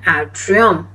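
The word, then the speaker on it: atrium: Okay, if यू are talking only about one, call it एन एट्रियम।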